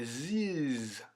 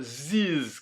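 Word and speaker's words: these: distinction qu'il y a entre this, qui est assez bref, et this, qui s'écrit T-H-E-S-E. D'ailleurs, je vais le rajouter ici. Tu le vois, ziz, comme ça. Ziz, c'est comme dans cheese.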